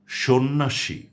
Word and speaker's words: সন্ন্যাসী: কিন্তু সে জফলার কোন উচ্চারণ হচ্ছে না। আমি শব্দগুলো আবারও বলছি আপনাদের জন্য। সন্ধ্যা স্বাস্থ্য সন্ন্যাসী মর্ত হর্ম বন্ধা অর্ঘ